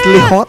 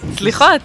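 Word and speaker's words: סליחות: The title of the song is Slichot. Slichot. How do you pronounce it? Yeah. Slichot. Slichot, exactly.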